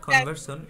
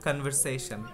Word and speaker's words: conversation: It's walked not conversion, it's conversation.